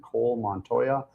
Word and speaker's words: Cole Montoya: Uh we have Taylor Johnson District 35 House and Cole Montoya District 47 House.